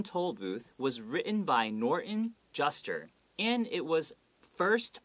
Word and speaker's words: Norton: americans sometimes do is we don't pronounce that t we don't go norton okay we go norton right means a norton